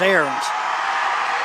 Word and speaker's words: Arns: Is it Arns or Aarons? One of the media that I watched them, they were pronouncing it as Arns. One of the. We'll go with Arns. I'm from Pittsburgh. I've seen that before. It's Aarons.